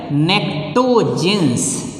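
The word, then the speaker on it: pnictogens: There one more name is there, nectogens. What is this one? Nectogens. अब just try to understand. This necto, P is silent.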